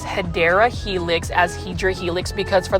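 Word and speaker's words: Hedera helix: curly locks so um I haven't said um hedra Helix in a while but for those that are new I mispronounced hadera Helix as hedra Helix because for the longest time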